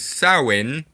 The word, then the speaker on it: Samhain: the day that halloween is based on is samhain because of the weird way uh english and